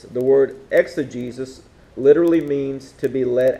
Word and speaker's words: exegesis: The first word is exegesis. You spell this like this. E-X-E-G-E-S-I-S. Exegesis. The next word is eisegesis. It's spelled E-I-S-E-G-E-S-I-S.